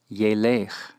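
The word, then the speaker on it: ילך: Halach behaves as if it were a first yod verb, and so is pronounced yelech, yelech.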